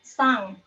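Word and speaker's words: 三: Lalu ada sang, artinya 3, sang, bacanya sang. Ditulisnya san, hanya bacanya 3, sang. En mati di belakang itu dibacanya sengau gitu, jadi eng, bacanya eng.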